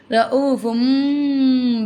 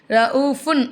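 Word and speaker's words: رءوف: ரഊஃபும் இங்கே பாருங்கள், தன்வீனுடைய கூறிட்டு வந்திருக்காமா, அடுத்தா பா வந்திருக்கு. பா என்ன எழுத்து? மாஷா அல்லா, வெரி குட்மா, வெரி குட். பா வந்து இக்லாவுடைய எழுத்து. அப்போ நம்ம என்ன செய்யணும்? தன்வீனுடைய குறியீடை மீமா மாற்றி உச்சரிக்கணும். ரഊஃபும் பில் இபாத். ரഊஃபுன் அப்படி சொல்லாமல் ரഊஃபும் அப்படி சொல்லணும். குன்னாவும் செஞ்சுக்கணும்.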